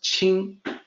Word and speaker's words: 輕: you will be correct the pronunciation in for this particular character is ching pinyin is Qi ng but it's actually it actually sounds is supposed to sound like CH ing so this is not Quinn this is not King